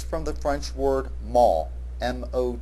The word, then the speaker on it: mot: word motet comes from the French word Mo m o t but pronounced Mo and mo means word now it